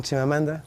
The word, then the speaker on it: Chimamanda: Good evening, Chimamanda. Hello. Well done for pronouncing my name properly.